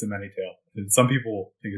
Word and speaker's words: A Many Tale: a mini tale and is that how it's pronounced yeah yeah it's a many tale and some people think it's or find it